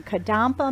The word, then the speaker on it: Kadampa: And our guest this morning is Michelle from Kadampa Meditation Center. And did I pronounce that right, Michelle? Yes, you did.